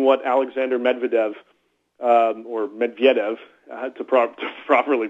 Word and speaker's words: Medvedev: um despite even what Alexander Medvedev um or Medvedev to Pro to properly pronounce it has said the president of the